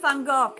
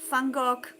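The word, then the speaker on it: van Gogh: Vincent Fangok.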